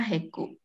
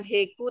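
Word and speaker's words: Hegu: bermanfaat ya ini yuk 4 dibaca Haku kumpulanku jadi kebanyakan kebanyakan bacanya Yang yang apa Cina itu E itu bacanya e kebanyakannya loh ya Jadi ini bukan haiku tapi terus titik Iwan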